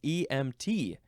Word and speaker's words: EMT: and it gives emphasises so it says EMT you have to emphasize the T there's you cannot you